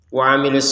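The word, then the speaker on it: وعملوا: Perhatikan di sini waamilu sama dengan amanu. Cuman kan bedanya di sini ada sukunnya, di sini tidak ada sukunnya. Cuman kalau di Quran Madinah dua-duanya tidak ada sukun ya. tidak ada sukunnya dan memang dibacanya itu panjang.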